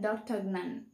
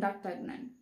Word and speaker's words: D'Artagnan: the three musketeers and dr okay it's a french name so we must try to pronounce in that way the three musketeers and the tugmen before moving into the